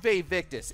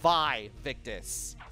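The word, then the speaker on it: vae victis: was talking about it too but it's not pronounced fave victus is pronounced by victus i actually had to look this up and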